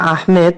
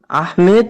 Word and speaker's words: আহমদ: আহমেদ তো আহমেদটা হচ্ছে বাঙালি বিকৃত উচ্চারণ। আহমেদ, আহমদকে আহমেদ বলা এটা বাঙালি অ্যাকসেন্ট, যেটা ভুল, প্রচলিত ভুল। আসলে আহমদ, ইসিম তাফজিলের শেখা হচ্ছে আহমদ মানে অধিক প্রশংসাকারী।